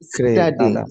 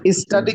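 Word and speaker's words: study: কম work লাভ walk স্টাডি স্টাডি স্টাডি অংশ আর স্টাডি কি স্টুডে বলা যাবে স্টাডিকে স্টুডে বলা যাবে না না স্টুডি বলা যাবে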